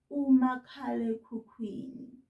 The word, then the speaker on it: umakhalekhukhwini: So if you're doing schoolwork, don't write cell phone, write umakhalekhukhwini. Repeat this after me, mngani, making sure that you're pointing at each and every syllable so that you say it correctly.